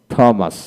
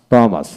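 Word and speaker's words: Thomas: exist তারপর vehicle vehicle বিমেন্ট বিমেন্ট অ্যানাটনি অ্যানাটনি থমাস থমাস থ্যামস থ্যামস white বা white এটা হলো ব্রিটিশ এটা আমেরিকান উচ্চারণ তারপরে হোয়াট এখানে এটা হলো ব্রিটিশ এটা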